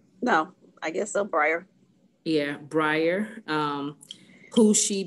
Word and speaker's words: Briar: name is breyer so you say her name briar um who yeah go ahead what are we gonna say no i guess so briar yeah briar um who she babysits for three